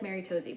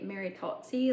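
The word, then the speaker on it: Maritozzi: I always say it like Mary Toesy, but I think it's actually Mary Totsy, like in Italian.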